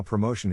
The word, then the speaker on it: promotion: In this case, the accent is in the second syllable, corresponding to mo. Below are other ways to pronounce it. Now, let's see how promotion is used in real life.